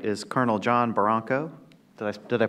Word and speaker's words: Barranco: To his right is Colonel John Barranco. Did I pronounce that correctly? Barranco.